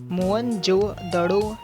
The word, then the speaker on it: मोहनजोदड़ो: जिले में स्थित है मोहनजोदड़ों शब्द का सही उच्चारण मोहनजोदड़ों भारतीय पुरातत्व सर्वेक्षण के